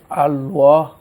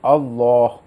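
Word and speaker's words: الله: ক্ষেত্রে সুনির্দিষ্ট কায়দা রয়েছে যে কায়দার উপর নির্ভর করে লামকে পোর বা মোটা করে পড়া হয়ে থাকে আল্লাহ আপনি যেভাবে উচ্চারণ করেছেন না এভাবে নয় মানে বরং আল্লাহ এভাবে উচ্চারণটি শুদ্ধ আপনি উচ্চারণটি শিখে নেওয়ার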